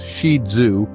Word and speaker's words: Shih Tzu: stealing hearts for centuries shius pronounced shidu are a toy breed